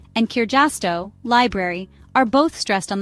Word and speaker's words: kirjasto: Almost always the first syllable of the word is stressed. That's it. No complicated rules or exceptions to remember. For example, kaksi, 2, and kirjasto, library, are both stressed on the first syllable.